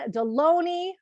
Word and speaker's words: Delony: John Delony, rhymes with baloney.